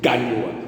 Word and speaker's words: Gagnoa: Ils ont laissé sur la terre ici les Gognoa. On dit Gagnoa.